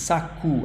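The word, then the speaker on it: saco: may have noticed that the O in the end of the word has a very soft sound so it's not s it's Saku actually it sounds like U Sak Saku this is the strong syllable sa and then Saku okay so Saku masculine or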